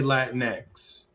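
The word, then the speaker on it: Latinx: You're supposed to say Latin X.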